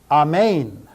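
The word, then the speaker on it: ἀμήν: put an H sound in front of the pronunciation of this word. Hagios, hagios, hagios. Ion. Amen.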